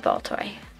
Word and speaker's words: Baltoy: It is Baltoy.